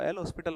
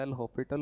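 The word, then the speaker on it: L'Hôpital: Pronunciation अलग होता है, एल हॉस्पिटल होता है प्रोनाउंसिएशन जो होता है, बाकी लिखते इस तरीके से, ठीक है।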